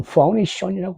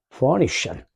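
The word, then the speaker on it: Phoenician: 영어로는 포니션이라고 발음을 한다. 포니션. 피니키아인이 영어의 알파벳을 만든 사람들이야. 피니키아. 포니션.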